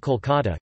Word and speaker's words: Kolkata: Kolikata, although the city's name has always been pronounced Kolkata, Kolkat, the Bengali, Kolikata or Kolikata, Klikat, the Bengali, Kolikata in Bengali.